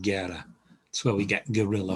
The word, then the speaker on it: guerra: a u a a a u following the g simply hardens the g so means war and it's a g sound guerra that's where we get